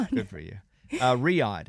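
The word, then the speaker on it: Riyadh: Uh, Riad is how you say it.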